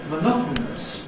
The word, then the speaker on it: monotonous: Even in words like monotonous, there is the option of saying monotonous. Now, monotonous still has 4 syllables, monotonous.